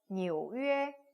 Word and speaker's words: 纽约: 뉴욕은 纽约 발음 비슷하죠? 纽约 해서 뉴욕이라고 얘기하시면 되겠습니다.